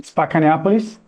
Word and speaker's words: Spacca Neapolis: Pronounce it for me. Spacca Neapolis.